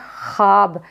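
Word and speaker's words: خواب: क्या कहेंगे वो मधुला जैसे लिखा क्या जाता है यह ख्वाब लेकिन पढ़ा क्या जाएगा खाब यानी वो इसमें क्या है साइलेंट है वह इसमें साइलेंट है जैसे यह खुद यह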